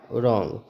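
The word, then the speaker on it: wrong: है W silent है अगर किसी स्पेलिंग की शुरुआत डब् एओ से होती है तो सामान्यता वहां पर डब्लू साइलेंट ही होता है यह बात भी ध्यान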